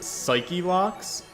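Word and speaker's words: Psyche-Lock: tell me also that they are probably pronounced psyche locks i don't like the way that sounds though so we're gonna call them cyclops um it just rolls off the tongue better to me all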